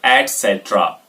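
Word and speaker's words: etc.: सो ईटीसी को correct pronounce करेंगे तो बोलेंगे एटसेट्रा।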